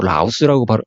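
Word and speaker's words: Routh: 루스 이걸 또 라우스라고 발음도 하는데 이게 이제 실제로 이제 이게 루스 또는 라우스 뭐 어떤 발음이 정확한 보통 루스라고 그렇게 얘기를 해요.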